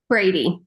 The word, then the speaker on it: Bready: how do you say your last name Brady Brady okay I wasn't sure I should have